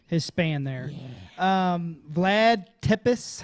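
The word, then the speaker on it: Țepeș: Vlad Tepes. How do you say that? Tepish.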